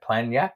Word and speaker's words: Planjak: Yeah, the actual restaurant, it's spelled PLANJAK, so Planyak.